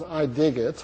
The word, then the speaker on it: Idigit: the same way as I dig it. I love it. So you can read it or pronounce it either way. We pronounce it I digit. Like digital. Yes, like digital.